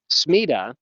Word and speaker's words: Smida: So Smida is a Swedish word. So I'm pronouncing it wrong. I guess it's something closer to smuda, but we're not going to say it that way.